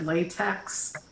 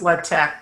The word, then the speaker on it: LaTeX: currently yeah i better give you the other pronunciation of it people usually call it latex and as soon as i say that everybody's going oh yeah i've heard of latex it's actually pronounced libtech just in case yeah how do you know